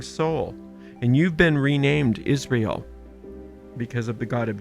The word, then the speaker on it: Israel: And Israel is that 3-syllable word that represents your higher self, your superconscious mind. That's Isis is Ra, and El, divine, of God. So that's you.